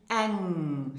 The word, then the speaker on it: eng: So we have for weiblich, feminine, eng. So listen and repeat after me for the correct pronunciation.